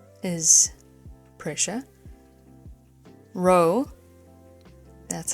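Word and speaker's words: rho: Row, that's how you pronounce it, is the air density.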